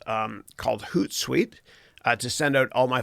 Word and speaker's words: Hootsuite: free product here called Hootsuite. Okay, which rhymes with Toot Sweet.